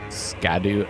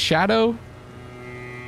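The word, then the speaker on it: Scadu: Skadu Atlas. Which I think is supposed to be pronounced Shadow. I don't know if I mentioned that before. I will continue to say Skadu.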